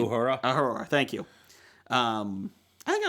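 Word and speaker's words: Uhura: got yora how do you say her name aora thank you um I think I'm going with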